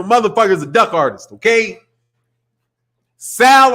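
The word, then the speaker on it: Saúl: Sal Alvarez. Not Saul. Not Saul. No. Sal Alvarez.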